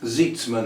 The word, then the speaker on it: Zeitzman: We've got a Megan Zeitzman, I presume that's pronounced, Z-E-I-T-S-M-A-N, Zeitzman.